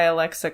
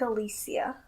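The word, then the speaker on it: Alessia: by Alexa Cara. And That's not how you say her name. Okay, I'm sorry. What is it? It's like Alicia.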